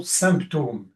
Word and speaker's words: symptôme: J'ai choisi cette façon d'écrire pour supporter le nom symptôme qui se prononce actuellement, on ne sait pas trop pourquoi, symptôme, c'est-à-dire quelque chose qui évoque la chute de la chute de quelque chose.